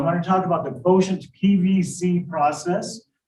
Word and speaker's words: QTNT: And I'm going to be introducing the quotient, that's spelled QTNT, but I pronounce it quotient, personal value calculation system.